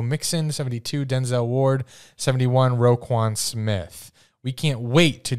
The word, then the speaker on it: Roquan: Roquan Smith.